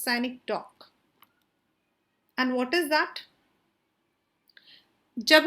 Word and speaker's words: synecdoche: It's pronounced as synecdoche. It is not cynic, it is synecdoche.